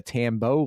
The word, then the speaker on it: Tambo: keppel Kathleen Moncrief Tambo like Rambo and thank you for